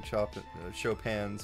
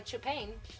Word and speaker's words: Chopin: Since you began playing Chopin's Farewell Waltz. I know how to pronounce my composer names, I swear. I mispronounced it, so don't worry. You're a little Chopin. Less stupid it's than pronounced me. Chopin.